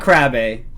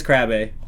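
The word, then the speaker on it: crabe: It's not crabbe. Don't tell me it's crabbe. It's crabbe? Is it really? Am I saying it right? You pronounce it crab? Oh, okay, so it's crab.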